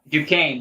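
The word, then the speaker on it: Duquesne: up canny correct me on this how you pronounce this 11 seed Duane Duane that's right I always want to put the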